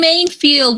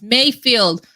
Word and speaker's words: Mayfield: And we have Mainfield. Woohoo! Did I say it right? Mainfield? It's Mayfield. Lord have mercy.